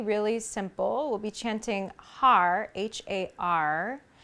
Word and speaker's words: har: simple we'll be chanting har h-a-r which sounds and is pronounced like hud hud hud h-u-d so there's a little flick of the tongue on the roof of the mouth there as we chant hud